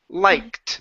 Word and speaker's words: liked: word liked right here liked put a tee sound at the end liked good good so